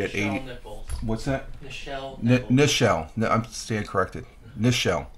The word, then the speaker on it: Nichelle: she passed away at eighteen what's that michelle nichelle no i'm staying corrected nichelle neschel nichols i pronounced that right michelle nichols she played uhura